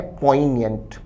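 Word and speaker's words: poignant: पहला ऑप्शन उच्चारण है पोइनियंट।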